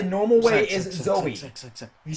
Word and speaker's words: Zoe: kicked you out because you kept calling her zoe you're a hoe like just it's pronounced zoey why did you why is z-o-e like who